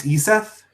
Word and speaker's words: Iseth: Hello, I think this is broadcasting now, so I'm here with, is your name pronounced Iseth?